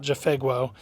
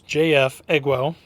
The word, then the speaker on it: JF.EGWO: which I did get a correction on the pronunciation it's not jefo it's jfo so anyways uh jfo when I shot this originally in the woods